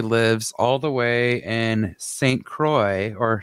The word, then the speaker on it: Saint Croix: cousin who actually lives all the way in saint croix or saint quoi i think it's saint croix let's face it